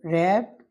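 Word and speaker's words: wrapped: उसके बाद next one है जी Yasir रैप्ड the rest watch. ये रिस्ट वॉच जो है ये कलाई वाली घड़ी को कहते हैं। रैप में डब्ल्यू साइलेंट है और इसमें भी डब्ल्यू ही साइलेंट है।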